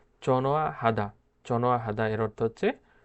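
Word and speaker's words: 전화하다: এখানে যে নিয়নটা আছে, নিয়নটা হিউতের কাছে নিয়ে যায় এবং হিউতের উচ্চারণ করে না এবং একসাথে উচ্চারণ করে চনোয়া হাদা।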